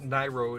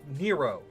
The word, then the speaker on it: Nairo: And it wouldn't be pronounced Nairo, it would be pronounced Nero. Nero, because Nai would be N-A-I.